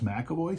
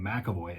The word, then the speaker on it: McAvoy: of the family that spells my last name mcavoy m-c-a-v-o-y spells it m-c-e-v-o-y phonetically they sound exactly the same so and i know